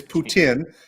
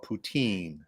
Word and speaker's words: poutine: how to say it it's putin and if you're not from around here uh they call it poutine uh but it's not potential anyway uh thanks so